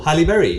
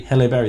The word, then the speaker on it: Halle Berry: what is it what's her name I can't pronounce it Catwoman man oh Halle Berry hello Berry that's it yeah put some respect on her